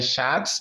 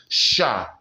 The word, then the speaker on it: chat: The T is silent, not un chat, but un chat.